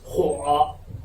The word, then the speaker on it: 火: In Chinese, it pronounced 火.